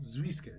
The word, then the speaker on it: Zwiskit: Zweiskit. Zwiskit. Exactly as it's spelled, or as it sounds.